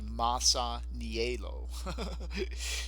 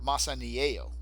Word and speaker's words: Masaniello: it's supposed to be well it's supposed to be Massa nee a low so or massa a Yale I mean I guess is the right way to pronounce it in Italian anyway we know what